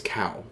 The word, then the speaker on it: Caio: so Chia b or I always want to call him Chow because there was a guy named chiao magnes back in the day and it was spelled the same way I think but it's cow it's cow Bodo and B B man